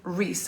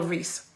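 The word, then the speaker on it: Reece: um comments box his name is robert l reese and rhys is spelled r-e-c-e and the um the piece is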